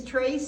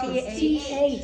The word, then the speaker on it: Thrace: Is Thrace still in existence?